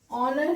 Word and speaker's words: honor: Okay, so honor here also H is silent.